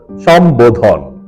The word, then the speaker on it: সম্বোধন: সম্বোধন সঠিক এবং শুদ্ধ উচ্চারণ হল সম্বোধন সম্বোধন ম এর নিচে একটি হসন্ত দিয়ে উচ্চারণটি করতে হয় সম্বোধন এবারে 42 মূল শব্দ